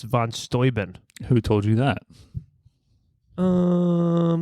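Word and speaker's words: von Steuben: that's how it's pronounced we've been saying Von stuben but it's Von stoin who told you that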